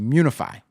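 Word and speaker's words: Miunify: So Odinaka says, to pronounce, just ignore the first I, munify.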